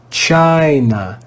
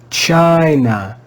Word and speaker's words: China: consonant the letter n you can also hear when we read the word that the first syllable is stressed china china china when the syllable is